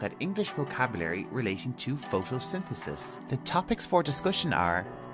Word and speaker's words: photosynthesis: for you to pronounce our first syllable is photo then we have sin followed by the and finishing with CIS and Al together photosynthesis one more time photosynthesis